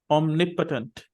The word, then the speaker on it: omnipotent: we see it properly omnipotent on nip actually the stress is on nip so there are four syllables omnipotent omnipotent actually the